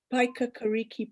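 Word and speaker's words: Paekakariki: i forgot yes um this is the press with the unpronounceable name paika kariki press pi like apple pie yes you did say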